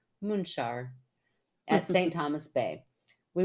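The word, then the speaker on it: Munxar: she goes pron moonar spelled m NX a r I always like to put the spelling in there because that just blows my mind that mu n x a r would be pronounced munar at St Thomas Bay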